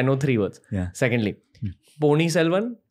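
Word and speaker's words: Ponniyin Selvan: Secondly, Pony Selvan. Am I saying it right? Right. That's correct.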